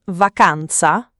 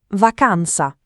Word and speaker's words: vacanza: Vacanza, non vaza, ma vacanza con la a aperta. Vacanza, viaggio.